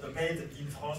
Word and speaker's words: made in France: compétition made in France made in France que je prononce volontairement euh fabriqué en France fabriqué en France voilà c'est ça je prononce volontièrement à la française par que comme son